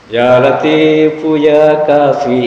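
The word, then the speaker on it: يا لطيف يا كافي: Ya latifu ya kafi itu yang benar. Ada yang bacanya ya latif Puya kafir.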